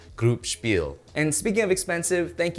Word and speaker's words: Gruppspel: to use google translate the correct pronunciation is group spiel and speaking of expensive